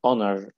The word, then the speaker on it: honor: oh you after the yeah but it's it's honor honor because each here is silent okay the oh you they put it